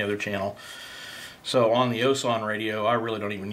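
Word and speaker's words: Wouxun: is the osan it's it's spelled with a w but it's pronounced osan and it's very similar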